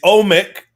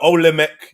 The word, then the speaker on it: Olmec: So yeah, but then like because you look at the statues that are found, everyone looks at the Olmec head, but then if you look at the